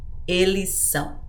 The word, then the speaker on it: eles são: conjugation starts with s you can just combine those sounds together and say Elisa same thing with Eliza Eliza you just combine S and S okay you can do